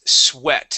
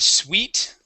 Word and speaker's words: sweat: all right um uh the next word is sweat instead of sweet okay when you see um uh this pairing of of letters together so this this EA okay would then be a short e sound the word is sweat sweat sweat very good um let's